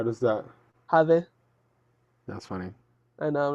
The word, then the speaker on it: Jade: She pronounces it in Spanish. How does that? Jade.